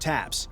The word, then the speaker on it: TAPS: The main way that the tank differs is that it has a brand new system called a Top Attack Protection System, TAPS, pronounced TAPS.